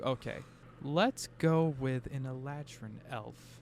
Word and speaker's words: Eladrin: He is is it pronounced Eladrin? Eladrin.